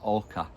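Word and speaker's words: oca: Next up is orca.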